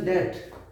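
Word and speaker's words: debt: B silent है, only डेट।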